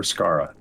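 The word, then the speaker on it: Skara: where's that Gara or scarra s-k-a-r-a s-k-a-r-a I think it's pronounced exactly like it's written yeah that would make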